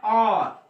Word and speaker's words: hour: not been working in the field for an hour, इसलिए लगा है जब मैं आर्टिकल करवाऊंगा तो यहाँ पे H साइलेंट है, H कॉन्सोनेंट होते हुए भी यहाँ